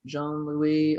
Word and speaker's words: Jean-Louis: yes dot com uh we got he's luke john louis on linkedin and that's j-e-a-n which is actually